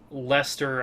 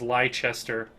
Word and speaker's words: Leicester: For calling uh Lester I pronounce Yeah, there it is. I pronounced it as Lchester, which I believe is correct in Middle English um but not in modern British English.